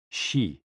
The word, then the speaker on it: xi: HOO, pronounced like hu, which is associated with the spleen, and XI, pronounced like shi, which connects the whole body.